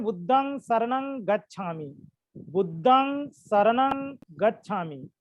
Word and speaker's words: बुद्धं शरणं गच्छामि: उच्चारण देखिए, कोई लोग लिख देते हैं बुद्धम शरणम गच्छामि। आप लोग बोलते समय भी बुद्धम शरणम गच्छामि बोलते हो। ये पूर्णतः अशुद्ध उच्चारण है और लिखना भी अशुद्ध है, क्योंकि पाली में ये जो हलंत है ये होता ही नहीं है ना।